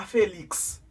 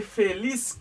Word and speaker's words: Feliz: Feliz cumpleaños. Feliz cumpleaños. Gen moun qui dit feliz cumpleaños, c'est pas cumpleaños, mes amis, c'est cumpleaños. Feliz cumpleaños. Feliz cumpleaños. C'est pas Félix. D'accord? C'est Feliz cumpleaños.